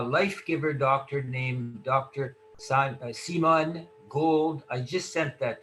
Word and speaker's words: Simone: Yes, it's pronounced Simone, you know, a life giver doctor from America's Frontline Doctors.